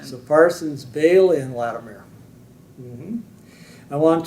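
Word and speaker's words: Behle: It's the Germanic spelling and pronunciation. So Parsons, Bailey, and Latimer.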